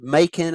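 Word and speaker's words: Machen: but they do uh I think it's actually pronounced makin I have actually heard that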